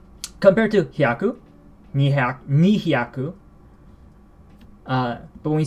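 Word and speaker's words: 二百: So, as one would expect, 200 is nihyaku, 200. Just like how 20 is niju, 2 tens, 2 100s, nihyaku.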